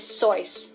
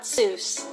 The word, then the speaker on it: Seuss: Seuss so this might make you completely rethink your childhood but the correct way to pronounce the author's name is sois not Seuss his friend Alexander Liang wrote a poem about